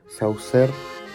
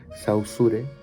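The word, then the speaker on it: Saussure: sin embargo sin embargo saucer o como se pronuncia bien sausure propone que no más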